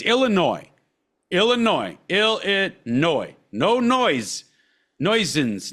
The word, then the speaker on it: Illinois: for illinoisans where and it's for everybody it's Illinois Illinois Illinois no noise nois no no there's